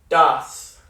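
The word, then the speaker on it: दस: No means 9, and then das. Similar to des in Spanish, das, which means 10.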